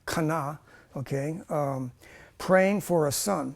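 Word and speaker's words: חנה: He is introduced when he observes Hannah, the Hebrew pronunciation, Kana, okay, praying for a son.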